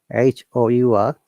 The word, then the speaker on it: hour: H-O-U-R. If there is a word with H-O, it sounds like R sound. H is not there. You have to assume. Like hour, honor, honors degree, honorary, honorarium, honorable, honest.